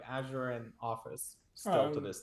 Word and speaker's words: Azure: So yeah, like FA alluded, like majority it's coming from, how do you pronounce it? Azure or Azure? Azure.